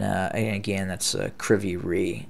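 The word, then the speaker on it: Kryvyi Rih: and again that's uh kriviri is i believe the the pronunciation of that of that town but uh we'll continue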